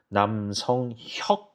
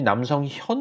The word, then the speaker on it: 남성혁: 한국 분들도 발음하기가 어려워합니다 남성 혁 입니다 그래서 많은 분들이 남성현 으로 잘못 하십니다 남성현 교수님은 좀 장신대 선교학 교수님으로 계신 분이고 저는 기억 받침 입니다 그러니 미국 분들은 더